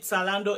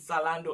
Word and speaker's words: Zalando: shoes from this online shop we call it solando in Germany and some people call it salon do I get it in Germany T or Z